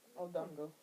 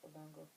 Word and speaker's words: odango: like beatball buns and I was like whoa odango is how it's pronounced odango yeah I no I didn't no I didn't